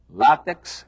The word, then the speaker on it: látex: quá quer dizer talvez ensinam que a pronúncia correta é látex e ensinam que a